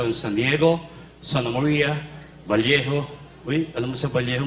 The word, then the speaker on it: Vallejo: Kasi dito sa Vallejo, pag double L, ang pronunciation ng Vallejo. Oh, bakit Vallejo?